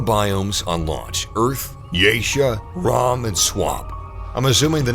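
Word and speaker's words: Rhom: It's Rom and Geisha. There we go. Rom. I was right. I knew it. I knew it was Rom. Because some other person pronounced it as Rome.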